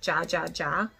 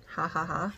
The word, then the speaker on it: Ja Ja Ja: take the shade called Ha Ha Ha, I'm assuming. It's spelled with a J, like Ja Ja Ja, but I'm pretty sure in Spanish is Ha Ha Ha.